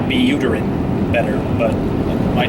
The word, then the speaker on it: Vitalik Buterin: And Vitalik Buterin, or Buterin, I like Buterin better, but it might not be the way that you're supposed to pronounce his name.